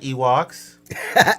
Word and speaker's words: Ewoks: like Ewoks. Damn. Same. Oh, Ewoks. Ewoks. That's how you spell it. Yeah, Ewoks. It's like Okay. E and like, you know, like a walk. Right.